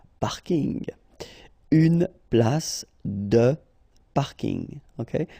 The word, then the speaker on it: parking: So I know it's coming from English, but still you should pronounce it the French way. Parking.